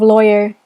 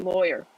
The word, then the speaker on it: lawyer: How do you pronounce the first syllable of lawyer? Lawyer. Lloyd. Like Lloyd. Loy. Lawyer. Yeah, so it rhymes with boy.